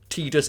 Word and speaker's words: Tidus: yeah and I say I will acknowledge that tus is the way the it's the official pronunciation I just always call